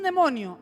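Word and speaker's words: δαίμων: ¿Qué es un demonio? En griego, daimon, que se pronuncia demon.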